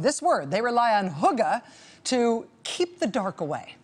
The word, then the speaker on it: hygge: people of Denmark, I'm told the word is pronounced more like hygge.